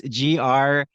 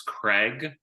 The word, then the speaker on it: Graig: It's Graig. Yeah, it's very it gets misspelled all the time. People either think he's Craig or they go with Greg.